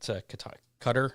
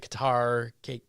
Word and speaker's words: Qatar: And then this past weekend at Qatar, I believe is the correct pronunciation now. Yeah. I used to pronounce it Qatar.